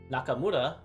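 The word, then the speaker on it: 中村: And you can see this is pronounced as Ta, this is pronounced Naka, and this is pronounced Mura. And just by swapping around their placement, Nakamura, Naka, this is Naka Ta, and this is Ta Naka.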